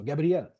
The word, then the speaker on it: Gabriel: Yeah, well, the way you're pronouncing it actually resembles the way I pronounce it because we all speak French in the band. So Gabriel.